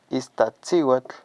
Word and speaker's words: Iztaccíhuatl: Vamos a seguir con Iztac, Cihuatl, Iztaccíhuatl. Amigos, así se pronuncia, ¿va?